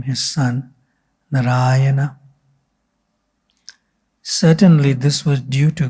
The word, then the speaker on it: Narayana: And Srila Prabhupada says in another place that this name has 4 syllables. Therefore, Narayana. That's why I pronounced it like that.